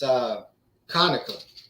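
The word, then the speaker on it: Conecuh: took me a while to be able to pronounce that. It's Conica.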